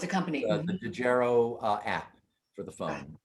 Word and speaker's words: Dejero: it's a company oh it's a company the dejero uh app for the phone and uh the